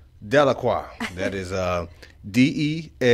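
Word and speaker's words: Deliqua: Delacroix. Delacroix.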